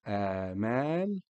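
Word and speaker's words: آمال: placed above the Aleph, just to signify that the Aleph is pronounced as A as opposed to A. Okay, like the word Amal, Amal, which means hopes.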